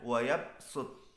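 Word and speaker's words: يبسط: Jadi sod dengan sin, bastoh tulisannya, bacanya bastoh. Wayab sud, bacanya wayab sud.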